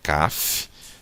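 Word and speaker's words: כף: Então a gente vai pronunciar aqui o som da letra K, da letra Kaf, depois o A, então K, e depois o som do F da letra Fei. Então fica Kaf, tá?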